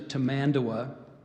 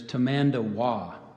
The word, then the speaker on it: tamandua: you the pronunciation of tamandawa there's an alternate of so I gave you to mandawa there's tamanda wah commandua t a m a